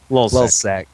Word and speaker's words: LulzSec: This time, a hacker collective, Lulzsec, is that how we pronounce it? Anyway, Yep. Lulzsec.